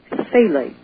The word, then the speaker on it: phthalate: administration, or the flexible tubes, are made with phthalates. And if they want to know how to spell it, it's P-H-T-H-A-L-A-T-E, phthalate.